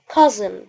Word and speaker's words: cousin: ابن عمي او ابن خالي اسمه cousin. يعني الاس دي نطقناها زي الزد، فنقول cousin cousin cousin.